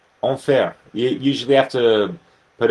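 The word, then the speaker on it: enfer: spelled differently but uh in French means hell e n f e r onair you usually have to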